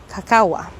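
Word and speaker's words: kakawa: They used cacawa. So it is spelled K-A-K-A-W-A.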